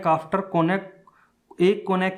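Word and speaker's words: cognac: और ड्रिंकिंग कौन है इसको कॉग्निक नहीं बोला जाएगा जी साइलेंट है कोनाक बोला जाएगा और ये होती है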